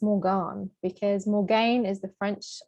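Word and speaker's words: Morgaine: the main character morgan written m-o-r-g-a-i-n is actually just pronounced morgan because morgan is the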